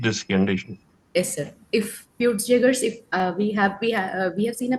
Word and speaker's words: Peutz-Jeghers: What is Poitzia syndrome? Sir, Peutz-Jeghers. Yeah, it's pronounced that way.